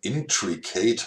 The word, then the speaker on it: intricate: Hört sich ein bisschen an wie Intracat. Intricate. Ah, das zweite I wird dann wie I gesprochen, Intracat.